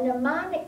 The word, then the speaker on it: mnemonic: about memory next week, there's a lot of words that start with an M, and they are pronounced with an N. And it's just because it comes from the Greek word for memory.